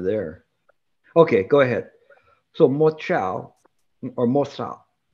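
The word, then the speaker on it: 默照: So mo chao or mo sao, how do you say it? Oh, mo chao, it is silence.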